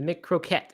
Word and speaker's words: McCroquette: The plant-based McCrocket, which we talked about the other day. The McCroquette is the name. Croquette. How you pronounce it.